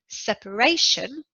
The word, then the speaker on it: separation: first syllable as well separation is a noun in separation the stress is on the third syllable just before the end in territory the